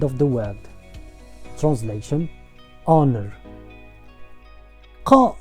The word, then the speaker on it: ق: Qa, on the other hand, does not have an English counterpart, so you may find it difficult to pronounce. And don't replace Qa with Ka, cause we already have the letter Ka in Arabic, and we don't need to pronounce 2 letters the same. The letter Qa is uvular sound. It means that comes from the uvula, which is the fleshy